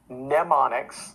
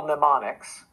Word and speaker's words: mnemonics: 1990s just google medical mnemonics the m on that second word is silent but that's the word for memory medical mnemonics and it'll probably be